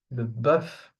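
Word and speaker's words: bœuf: Okay, here the f is pronounced buff beef.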